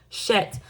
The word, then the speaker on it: chet: C-H-E-T is a Jewish word. And I did do some recording. Which rhymes with met, which is similar to the letter H of the English alphabet. But you add a guttural component to it, like a throat-clearing sound.